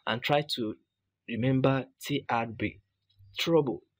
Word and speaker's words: TRBL: You can remember by writing TRBL and pronounce it as trouble.